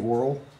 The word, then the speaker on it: Worrell: Dave, how do you say Dave's last name? Dave Worrell? Yeah. Dave yep. Worrell, my man.